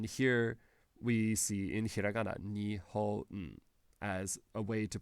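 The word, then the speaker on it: 日本: So, for example, these two characters together make the word Japan, and we pronounce that Nihon. And then here we see in hiragana, Nihon, as a way to pronounce that.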